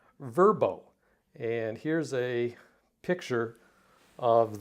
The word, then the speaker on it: VRBO: to be spelled out so VRBO is now going to be verb oh and here's a picture